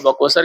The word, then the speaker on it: बक्सर: बोलने का उच्चारण लैंग्वेज तो वो बकोसर को बक्सर कहने लग गए अब बक्सर कहने लगे तो फिर वही आज तक वो प्रचलन में है बक्सर ही रह गया बकोसर बक्का माने